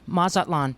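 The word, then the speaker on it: Mazatlán: How do you pronounce Mazatlan? Mazatlan, yeah.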